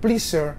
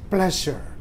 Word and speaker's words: pleasure: Inggris kok isa ya ini bacanya bukan pleas bukan please tapi ini bukan pleaser tapi pleasure kesenangan yang ketiga yang kata